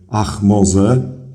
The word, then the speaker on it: Ahmose: Stąd, idąc po całości, mamy Ach-Moze, co tłumaczymy jako księżyc się narodził.